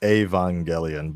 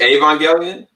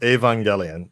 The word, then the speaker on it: Evangelion: let me help you first and foremost it's a van gaalian but yeah you're not just it's a van gaalian that's how you spell it or pronouncing well you're pronounced evangelion yeah i know you're thinking about like the english way of saying it but it's like oh gosh yeah yeah but you're thinking about evangelical right but you would say wait